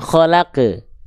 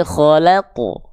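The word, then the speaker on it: خَلَقَ: Bukan khalaq, tapi khalaqu. Tebal. Pangkal lidahnya diangkat. Kalau di bawah begini, ma khalaq. Jadinya gitu, ke, bukan ke, tapi ko. Ma khalaqu. Ma khalaqu. Tebalkan pelafalannya.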